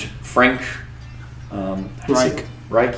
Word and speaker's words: Frank Reich: Yeah, they were competing, and Frank Reich, you say it like that?